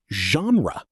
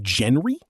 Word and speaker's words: genre: The correct pronunciation is genre. Many people say gen-ree, but that's incorrect. The word comes from French, which is why it has an unusual pronunciation.